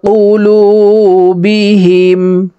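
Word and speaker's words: قلوبهم: আলিফ টেনে পড়বো আলা কফ পেশ উলাম ওয়া পেশ লু বা জের বি হা মিম জের হিম আলা কুলুবিহিম খতামু আলা কুলুবিহিম ওয়াও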